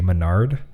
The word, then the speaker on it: Mena RD: Which I thought they kept pronouncing it that way. I thought it was supposed to be Menard, but they're just screwing it up. Okay, so it's Mena RD.